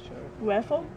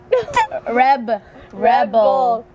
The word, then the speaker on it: rebel: Raffle? Rebel. Not Red Bull. Rebel? R-E-B-E-L. Rebel. Raffle. The B like bear, banana.